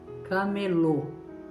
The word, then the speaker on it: camelô: E nós chamamos essas várias lojas de camelô. Camelô. Olha o som forte que dá no final. Camelô. Por causa do acento circunflexo, por causa do chapeuzinho.